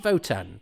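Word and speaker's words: WOTAN: good for why and why do they pronounce it voten because it's it is it is with a W um uh uh and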